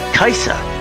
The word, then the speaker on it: Kajsa: Kajsa, that's how it's pronounced. Kajsa is all over the internet, Facebook, message boards, spreading hope, and we're so glad that we found her.